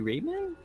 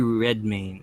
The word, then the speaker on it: Redmayne: So I can't pronounce his name right, but it's God, Eddie Redmayne.